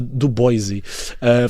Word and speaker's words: Du Bois: Du Bois, eu acho que se pronuncia Du Bois, ou seja, do movimento internacional pan-africano que já propunha a libertação dos povos africanos em particular.